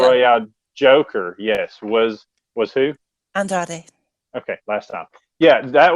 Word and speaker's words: Andrade: Andrade. Yes, that's it. Andrade is all elite, y'all. I was sort of right. She did her pick for the Casino the Battle Joker. Royale Joker. Yes, was who? Andrade.